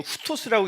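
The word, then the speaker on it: οὕτως: 문장에서는 이제 이거 후토스라고 읽는데 그건 잘 모르셔도 돼요.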